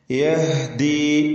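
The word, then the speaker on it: يهدي: യഹ്ദി, നേരത്തെ പറഞ്ഞ ലാ തഹ്ദി എന്ന് ഹാഇന്റെ ഉച്ചാരണം ഇവിടെയും ശ്രദ്ധിക്കേണ്ടതാണ്.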